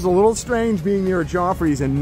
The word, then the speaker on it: Joffrey's: a good coffee which I'm thinking it's Joffrey's rhymes with coffees but yeah we're gonna